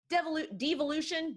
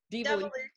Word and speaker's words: devolution: And the books are titled DNA Evolution and Devolution. De-evolution. That's a fun word. How do you pronounce that? Devolution. Devolution. It sounds like devil.